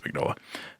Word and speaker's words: Mignola: seen it a million times but i've never pronounced it i just always read it but i think it's mignola that's how you say it but yeah he's